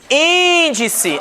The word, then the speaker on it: índice: Índice é a antepenúltima, portanto, proparoxítona.